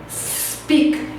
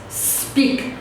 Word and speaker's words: speak: Então não vamos pronunciar uma sílaba antes do S porque ela não existe, ok?